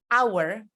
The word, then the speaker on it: hour: when you're talking about hour which means you know uh one hour to hour the H is silent so you can point